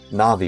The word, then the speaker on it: Navi: names and different things na'vi right instead of Navi some people say Navi I say na'vi some people say deu I sayu right so I I base it off of the the Japanese pronunciation I guess you've always